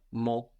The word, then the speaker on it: mon: l there we have mo mo with a silent n but Moni my friend